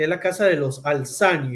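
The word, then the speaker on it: Al Thani: casa real que es la casa de los alzán y de verdad también se le llaman los alta ni verdad Pero la pronunciación pues más acertada en los alzani es una monarquía para lamentaria es un momentos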